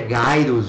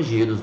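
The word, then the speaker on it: Gyruss: é a é a a pronúncia correta é gaos viu pessoal eu fiquei sabendo esses tempos aí que pronuncia gaos a gente chama giros mesmo então é um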